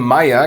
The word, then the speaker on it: Meier: ei weiß nein Seite Seite Hai Mais Kai Geysir Bayern And finally, the German surname Meier can be spelled in six different ways which all sound the same.